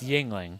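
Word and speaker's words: Yuengling: The only thing I knew about this beer was there was It's Yingling. Yingling. Yep. Just like the words jingling or mingling, not the word bungling. Yingling.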